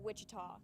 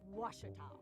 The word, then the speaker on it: Ouachita: Back in Texas, everybody pronounces it Wichita, but really, it's Ouachita. Ouachita.